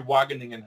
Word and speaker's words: Wageningen: But it's literally Wageningen, how you would pronounce it.